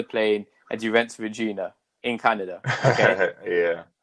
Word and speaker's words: Regina: that quickly too that it's not pronounced Regina. Okay. It's pronounced Regina. Like yeah, they corrected Regina. me. Yeah, they corrected me so fast because I said Regina too. Like, cause you think it's spelled just like it, so you would think it's pronounced like it, but nah.